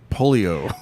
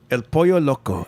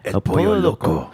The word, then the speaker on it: El Pollo Loco: I think you were saying like polio. El Pollo. I think I am. How do you say it? El Pollo Loco. El Pollo Loco. You almost blend in the 2 last ones together. El Pollo Loco.